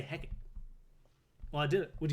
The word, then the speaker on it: Hecate: Yeah, you go, Hecate. Hecate. Hecate. On Charmed, they pronounce it Hecate. I haven't Googled this. I just want to say Hecate.